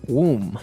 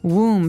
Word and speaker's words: womb: one when the teacher explained about a woman's womb womb so this might look like a very hard word to pronounce there's a b there so w-o-m-b we